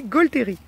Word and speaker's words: gaulthérie: d'huile essentielle de gottéron alors on dit go terry sa série gaulthérie ya le ca se dit gaulthérie ça s'écrit pardon donc